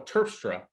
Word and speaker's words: Terpstra: I am so so pleased to have Michelle turfstra is that the right way to say your